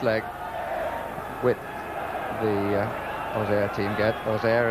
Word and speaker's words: Auxerre: Auxerre, as they pronounce it in Auxerre. Auxerre and most of the rest of France.